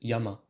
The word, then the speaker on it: yama: word yama meaning mountain, instead of using two Chinese characters, one for the sound ya, the other for the sound ma, they would simply use the Chinese character meaning mountain, but they would pronounce it yama.